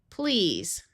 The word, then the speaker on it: please: The other sound that se can have at the end of a word is the voiced sound of z.